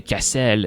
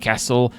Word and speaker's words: Cassel: And so you may have noticed that I did say Cassel instead of Castle, simply because, I don't know, it just have this French pronunciation, so we can imagine that this is a place where a lot of French people might have settled in the verse. And I like how the lore says that people are irritated if you call it Castle.